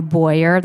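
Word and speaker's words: Beurer: So that's where I started, was buying a Boyer, that's spelled B-E-U-E-R, infrared heat lamp off of Amazon, and just trying it.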